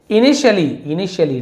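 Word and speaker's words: initially: इनिशियली टी को है ना श पढ़ रहे हैं, इनिशियली नहीं पढ़े, इनिशियली शुरुआत में को इनिशियली कहा जाता है।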